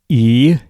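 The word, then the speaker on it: 生き甲斐: Okay, it's spelled Ikigai. So it's pronounced Ikigai.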